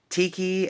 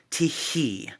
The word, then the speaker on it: Tyche: it he was like wait Tiki as in t-i-k-i as in like Hawaii and I said no it's not spelled like that it's t-y-c-h-e tihi there's a he at the end she is the Greek